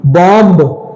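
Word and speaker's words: bomb: ओ एम बी बॉम बी ओ एम बी बॉम लेकिन बॉम नहीं बोलते हैं इसे हम बॉम बोलते हैं बॉम बॉम बॉम नहीं बॉम बम बॉम तो बी क्या हो गया साइलेंट हो गया अगला है टॉम टॉम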